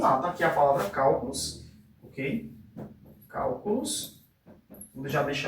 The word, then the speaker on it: cálculos: Então vamos lá, tá aqui a palavra cálculos, ok? Cálculos. Vou já deixar ela separadinha aqui. Vamos tentar identificar qual é a sílaba tônica. Cálculos. Então a sílaba tônica é esse cal aqui.